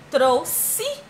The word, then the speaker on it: trouxe: que eu te ama trouxe trouxe olha Parece até que é com s e taxi taxi Olha